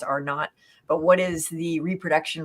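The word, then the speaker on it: R0: So what is the, RO, I think it's pronounced R not, but what is the reproduction rate?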